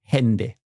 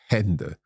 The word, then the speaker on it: Hände: And another one that has a slightly, like, I would describe it as a short A sound is like Hände. Hände.